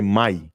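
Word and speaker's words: mayim: but they don't say in that language the m sound is silent so you say my so i've been i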